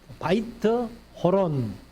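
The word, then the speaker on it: Beth-horon: 배토론을 건축하되 이것은 이제 벳 호론 베트 하면은 우리 벧엘을 알잖아요 그건 이제 집을 얘기를 합니다 원으로 발음 그대로 하면 바이트인데 바이트 호론 이렇게 하는 건데 호르몬이 이제 그 동굴이라는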